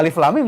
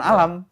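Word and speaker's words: الم: Tapi itu enggak ngaruh karena bacaannya alif lam mim itu ya alif lam mim dari dulu bacanya bukan alam.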